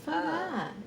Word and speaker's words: Phở Gà: It's Phở Gà.